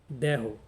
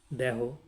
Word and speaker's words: দ্ব্যহ: ফলা হ রয়েছে এখানে নিয়মটি দেখুন যে এর উচ্চারণত হচ্ছে দেহ এখানেও ব ফল এবং জ ফলের কোন প্রভাব নেই এবং শব্দের শেষে যদি হওয়া থাকে কে তাহলে সেই হটি অকারান্ত উচ্চারিত হয় সবসময় যেমন দেহ এই দেহ এই দেহ মানে হচ্ছে দুদিন বা